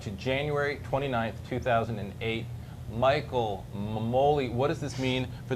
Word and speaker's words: Memoli: It's Memoli, dude. I'm telling you, your last name is pronounced Memoli.